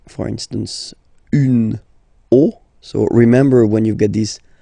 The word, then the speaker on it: os: the end, but then same rule, you don't pronounce it. Des os, okay?